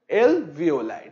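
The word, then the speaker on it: alveoli: ठीक है, इसे हम प्रोनाउंस करते हैं एवियोलाई, एलवियोलाई।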